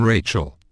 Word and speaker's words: Rachel: With the exception of the name Rachel, the CH combination of letters is given a hard K sound, as in Mel, Chiz, E, Nick.